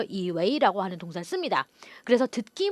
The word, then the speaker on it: 以为: 발음도 유의해 주셔야 되겠어요. 자, 이웨이에서 이 웨이는요, 물론 为什么 인웨이 할 때 웨이 사성으로 읽죠. 하지만 뭐뭐라고 여기다 생각하다 동사할 때 웨이 이성해 줍니다. 그래서 발음이 반삼성 이성 돼서 이웨이라고 발음이 되겠죠.